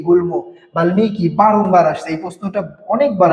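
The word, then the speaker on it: বাল্মীকি: তো বাল্মিকির উচ্চারণটা দেখেন ম এর সাথে বাল্লিকি বাল্লিকি হওয়ার কথা ছিল কিন্তু কি হয়ে গেছে? বাল্মিকী হয়ে গেছে।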